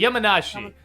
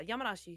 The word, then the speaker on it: Yamanashi: the how do you say Yama yamanishi Yi yamanashi yam yeah yamanashi yeah Nam yamanashi test track in Japan the Lo series maglab